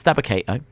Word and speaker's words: Dabba-Kato: I just want to make sure, but the guy with Apollo is Dabba-Kato. If not, I feel dumb. No, you're right. It's Dabba-Kato.